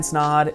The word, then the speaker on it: Snaadt: My name is Snaadt, it rhymes with odd, and I own a